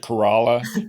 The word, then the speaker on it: Corolla: and for everybody listening I pronounce it corala but if you spell it Corolla Cora wild because I say corala yeah you may say Corolla but I say corala